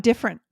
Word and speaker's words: different: This is spelled like it would be three syllables. Most likely, and I hear on podcast TV shows more often, I hear these squished together and turned into two syllables.